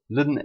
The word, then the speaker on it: ln: And we pronounce it lin x. Now when we differentiate e to the x we get e to the x straight back. We mentioned that when we differentiate lin x we get 1 /x.